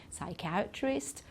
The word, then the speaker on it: psychiatrist: make the mistake then the P PS and PN are also at the the beginning of certain words we don't pronounce the P in psychology psychiatrist pseudo okay so we don't pronounce the P at all and here we say